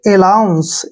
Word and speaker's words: allowance: ए का प्रोनाउंस हमने ए करना है और एल को हमने ले पढ़ना है, ठीक है। और AW का उच्चारण यहाँ पर ऊ करते हैं, ऊ, ठीक है ना। और AN को यहाँ पर हमने न लिखना है और CE का उच्चारण श पढ़ना है, यानी कि अलाउंस, ऐसे, अलाउंस, अलाउंस, अलाउंस क्या होता है?